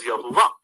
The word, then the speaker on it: Yahweh: Yahweh is a term for Yud-He-Vav-He, which many people pronounce like myself, Yahweh. Some of you pronounce as Yahuwah.